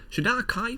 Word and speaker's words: Shadar-kai: Shadar-kai, which is the correct way to pronounce it, are a bunch of emo elves.